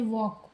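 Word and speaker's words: walk: जैसे वॉक वॉक में देखिए डब्ल्यू एल के लेकिन वर्क हम नहीं पढ़ते हैं। एल साइलेंट होता है।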